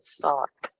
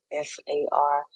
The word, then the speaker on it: SARC: Um, like I said, it's like saying NARC, but you're saying SARC, SARC. Or if it makes it any better for you, SARK, SARC. Don't spell it with a K though, SARC.